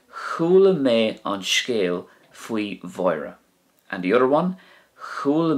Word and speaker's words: Mháire: Now, Mháire can be pronounced Uaireanta as well, like a W sound, it's no problem.